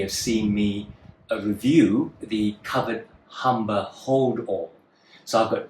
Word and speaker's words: Kovered: on, of two bags that I got from Kovered, as spelled with a K, K-O-V-E-R-E-D, which is a UK brand that creates heritage bags out of reclaimed materials.